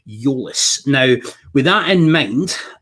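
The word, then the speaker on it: Tzolis: greek accounts that i saw on twitter that's pronounced euless now with that in mind um the few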